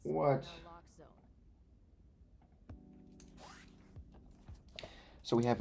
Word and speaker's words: naloxone: Naloxone reverses an opioid overdose, even if you mispronounce it. For the record, it's What? naloxone.